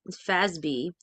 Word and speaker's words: FASB: 1987 when the Financial Accounting Standards Board fasb pronounced Fab fby ruled that all financial statements involving CPAs must